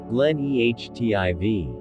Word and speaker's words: Glen Etive: The rover drilled twice in this location, nicknamed Glen Etive, pronounced Glen Ehtiv, about 984 feet 300 meters behind the rover.